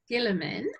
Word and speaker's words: Guillemin: Lovely, because I've got your email address here, so I'm just going to say it's Guillemin, and it's spelt Guillemin.